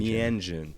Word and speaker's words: Meanjin: How do you pronounce that journal? Meanjin. Meanjin.